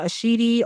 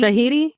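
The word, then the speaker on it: Shahidi: Shout out to Yara Ashidi or how you say it? Shahiti. Shahiti.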